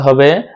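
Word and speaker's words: ح: তারপরের হরফ হলো হা। হাটা উচ্চারণ করতে হবে গলার শুরু জায়গা থেকে, আওয়াজটা ভিতর থেকে আসবে। হা হা হা হা হা হা হা।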